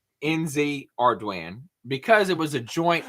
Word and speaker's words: Ardoin: wrong on purpose but the correct name is NZ arduan because my last name is arduan it's a Cajun French word and then my my